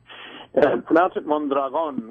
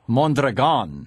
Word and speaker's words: Mondragón: do you pronounce mandrian mandron with the accent on the last syllable mandron okay and mandron mandron